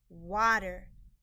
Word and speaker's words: water: under water water the a in this word is making a short o sound ah and the e r in this word is a part of the sound spelling patterns e r makes the sound er water why i y